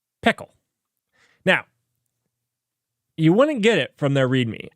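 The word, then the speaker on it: Pkl: know I don't know let let's talk about pickle so I learned that PK is actually pronounced pickle now you wouldn't get it from their read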